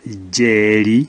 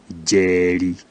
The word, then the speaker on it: Njeri: Now, J is never written without the prefix N, and the example we have here is Jeri. So when a Kikuyu is speaking, you hear as if it's a plain J, but in written form it is always prefixed with an N.